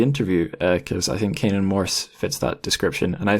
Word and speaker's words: Canaan Morse: time right so we have on the show Kanan Morse oh I always do this is that a